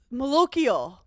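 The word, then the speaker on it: malocchio: Evil Eye the Maloo I think it's just called pronounced the Malo it's m a l o c c h IO Sicilian Americans been raised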